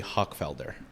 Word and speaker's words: Hochfelder: On the women's side, we have Jimena Menendez, and from the men's side, we have Henry Hochfelder. I get that right? It's good pronunciation.